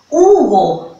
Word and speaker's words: Hugo: Hugo. Pero se escribe con H, pero no tiene sonido, me parece.